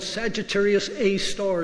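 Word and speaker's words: Sagittarius A*: the heart of the Milky Way it's called Sagittarius a star as the way this is pronounced and by applying this equation to those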